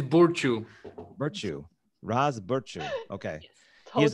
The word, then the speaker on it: Burciu: Do I pronounce it that way? It's Burciu.